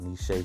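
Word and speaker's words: Nechez: them early of course we gotta call out nishay sweets that is spelled n e c h e z sweets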